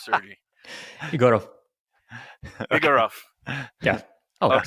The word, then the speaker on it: Egorov: last name what is your last name sery igoro igoro yeah oh it's pretty good okay okay